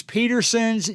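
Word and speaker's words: Petersens: If you want to go to their YouTube channel, it is Petersons, just like it sounds, except the last syllable is S-E-N-S, not S-O-N-S.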